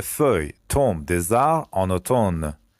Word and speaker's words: automne: Les feuilles tombent des arbres en automne. automne بچه این امش تلفظ نمیشه.